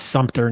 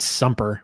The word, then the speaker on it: Sumter: It's Sumter, not Sumper.